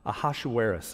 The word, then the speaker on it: Ahasuerus: these events took place during the days of aashis is how you say that who ruled 127 provinces from India to Kush in those days King ahasuerus reigned from his Royal throne in the Fortress